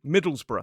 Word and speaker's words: Middlesbrough: So, it's or some speakers just reduce it down to one syllable br.